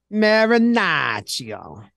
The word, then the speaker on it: Marinaccio: so yes I do marinach yo that's the baseball reference pronunciation the way Joe says